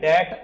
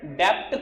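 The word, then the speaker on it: debt: का नाम है बैड डेट अकाउंट, क्या नाम है, बैड डेप्ट, कोई नहीं बोलेगा, किसी ने बोला ना डेप्ट बहुत पिटाई करूंगा, ठीक है, बैड डेट account, B word is silent, क्या बोलते हैं, बैड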